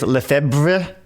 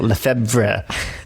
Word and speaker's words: Lefebvre: So Lefebvre is how I hear people pronounce it. Nobody knows how the family pronounces it.